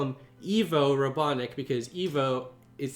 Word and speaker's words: Ivo: weird is a apparently dr. Ivo Robotnik is supposed to be pronounced Evo Robotnik specifically says pronounced Evo thing is I'm not